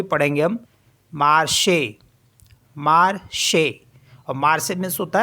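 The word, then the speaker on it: marché: है है ना तो उसको भी पढ़ेंगे हम मार्श मार्श मार्स मीस होता है मार्केट नेक्स्ट है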